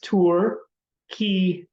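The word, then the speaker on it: Türkiye: That's Turkiye with an emphasis on the first syllable.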